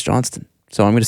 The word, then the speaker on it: Johnston: arbitrator this Courtney Chris Johnston by the way it's spelled Johnston everybody calls him Chris Johnson though but it is Chris Johnston well is it like a silent T I don't know Carolyn